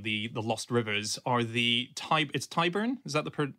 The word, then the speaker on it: Tyburn: Other people who go down sort of scavenging and hunting around the lost rivers are the Tyburn, is that the pronunciation? Is it the Tyburn Angling Society? Yes, the Tyburn Angling Society.